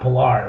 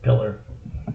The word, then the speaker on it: Pillar: It's spelled like that, but not Pilar. It was Pillar.